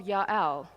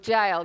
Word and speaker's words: Jael: But Sisera fled away on the foot to the tent of Jael. Here comes my hero, or Jael. There's different pronunciations. I Google that, pronunciations of, and they will say differently. Let's go to Jael.